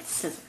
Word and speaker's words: Scizor: No, there's not that many Skizor fans. I still don't know how to say his name. Well, because we were watching, and Pokemon, they originally say like Scissor.